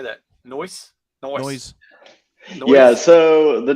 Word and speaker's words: Nois: And we just dropped the E to make it a fantasy name, but you can just pronounce it like noise.